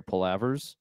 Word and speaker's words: palaver: I am subscribed to your palavers, and those are I'm pronouncing that right, right? Yes. Palaver.